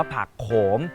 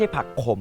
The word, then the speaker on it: ผักโขม: มอ ม้า นะ ครับ อ่าน ว่า ผัก โขม ไม่ ใช่ ผัก ขม นะ ครับ น้อง ๆ อย่า อ่าน ผิด นะ ต่อ ไป ต้อง เปลี่ยน